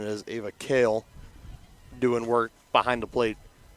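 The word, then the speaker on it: Kehl: grandparent watching at home it's pronounced kale and when it's pronounced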